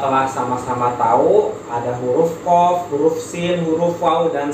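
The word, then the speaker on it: ق: Namanya huruf qaf, cara bacanya ko.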